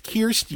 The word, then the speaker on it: Kirsten: so so Kirk Kirsten it's not Krishna it's Kirsten yes drives me nuts Beamer Kristin okay John